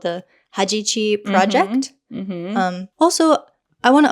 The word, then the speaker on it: Hajichi: has something called the Hajichi Project. Also, I want to apologize because I pronounced it wrong before. Oh. I think I said Hachiji. Okay. But it's Hajichi.